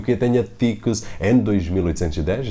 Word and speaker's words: Thecus: Esta foi uma das dificuldades que eu tive em pronunciar o nome da Ticus, como se diz aqui em português, Tecus.